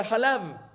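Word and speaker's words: חלב: Y la tradición de la pronunciación de esta palabra que es Halev, o sea, Halab. No Helev, Halab, o sea, Halev. Halev es Halab.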